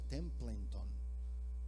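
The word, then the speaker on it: Templeton: charles tem en tron así se pronuncia templo en ton este hombre murió en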